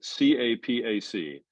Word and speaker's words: Capac: the town of I don't know how to pronounce this I should because I'm a michigander Capac c-a-p-a-c APAC Capac a small town on the Flint